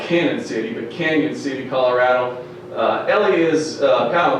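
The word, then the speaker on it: Cañon City: doubt it it's pronounced Canyon City they got that little squiggly over the a alright it's spelled canon city but Canyon City Colorado Elia is kind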